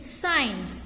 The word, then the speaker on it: science: Okay, here letter group SC, it makes a s sound. SCIENCE. How we will read it? Signs, right?